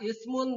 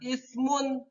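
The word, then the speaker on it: إثم: Tanwinnya dimasukkan ke waw, jadi membacanya yaitu ismu wala tajassasu, tidak ismun tapi ismu wala tajassasu.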